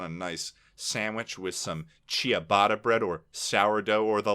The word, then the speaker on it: ciabatta: I know it is pronounced ciabatta, but I Oh.